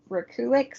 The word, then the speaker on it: Rekulak: It's Rekulak. Yeah. So, but apparently it's Rekulik.